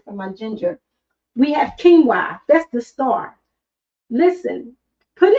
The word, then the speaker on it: quinoa: We have quinoa. That's the star. Listen, put in the chat if you like quinoa. And I know the way it's spelled, it's spelled like q u i n o.